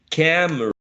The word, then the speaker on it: camera: or camera camera camera we can again get rid of the uh schwa in the middle so we may reduce the number of syllables we may compress we're compressing this word um that some speakers may use three syllables to say other speakers may say this word into only two syllables so i have camera